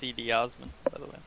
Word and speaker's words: Cedi Osman: do our final spin god Cleveland sucks it's pronounced cedi osman okay and it was and it's pronounced where